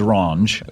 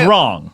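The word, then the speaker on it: Wronge: There's an E at the end, so I assumed it was Ronge. Oh, no. Okay. No. So it's wrong.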